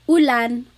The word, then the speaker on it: ulan: So ulan, upuan, rain and chair, U. Not like under or umbrella. The letter U in Tagalog has an U sound.